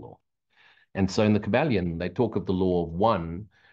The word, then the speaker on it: Kybalion: Look up the Kybalion, yeah, Kybalion or lion, Kybalion, I think is the way you pronounce it.